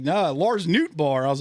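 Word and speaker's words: Nootbaar: Do you know how it's spelled? N O O T B A R R. Oh, it really is Nbar. Like I thought it was Nutbar at first and they're someone's like and they're like sick.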